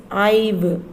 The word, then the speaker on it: I've: the next line next short form it is ive ive how to pronounce this word children ive i've made made